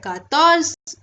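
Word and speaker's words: quatorze: 14 को बोलते हैं कातर्स।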